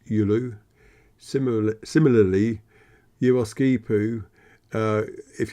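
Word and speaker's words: Giolou: the village of Yul even though it's spelled g i o l o u it's pronounced yulu similar similarly yipu uh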